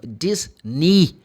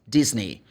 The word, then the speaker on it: Disney: they're going to go like a where no Disney the E sounds like e is Disney money ke Paul mne but Marley no le